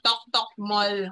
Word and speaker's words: Toktok Mall: So, ayusin nyo lang po yung pagbigkas kasi, di ba, dapat Toktok Mall. Okay, huwag nyo pong kalilimutan yung isang Tok.